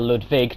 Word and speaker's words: Ludwig: that allows you to get Ludwig or ludvig depending on your pronunciation holy holy blade which